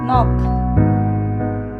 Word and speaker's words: knock: Knock, K is the silent letter.